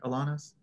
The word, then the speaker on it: Alanis: relaxing cool okay um alanis did i get that right or did you tell me to pronounce it differently alanis yeah alanis um hi my name